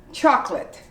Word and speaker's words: chocolate: of these like this chocolate you don't say chocolate you say chocolate the o is omitted it's two syllables but you don't say